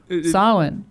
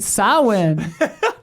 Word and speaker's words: Samhain: Samhain. Yeah. That's how you say it? Glenn Danzig's Okay. side band, Samhain or whatever. Samhain. Yeah. Get it right, Samhain.